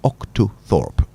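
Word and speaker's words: octothorpe: But its original name is the octothorp. Octo. Can you say that again? Octoorp. So, it's spelled O C T O T H O R P E.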